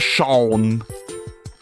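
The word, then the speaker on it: Seam: Pronounce Shawn. A I like Shawn.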